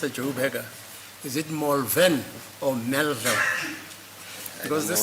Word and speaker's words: Malvern: It's Malvern. It's Malvern and not Malvern.